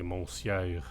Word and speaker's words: monsieur: Nobody say monsieur. The word is monsieur. It's like, you know, Mrs. It's just not pronounced the way it's written.